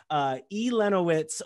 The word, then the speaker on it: Elenowitz: Elenowitz with Lincoln Line.